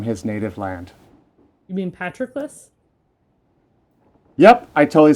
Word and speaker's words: Patroclus: blood, so honoring his dear son, him who Patroclus had foredoomed to slay in Troy's rich soil, far from his native land. You mean Patroclus?